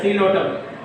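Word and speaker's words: Psilotum: Here also P silent letter. Coelopsida. P silent letter. Coelotum.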